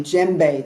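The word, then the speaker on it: djembe: to be using a JBE this is pronounced ounc uh spelled DJ m b e you don't pronounce the d oh by the way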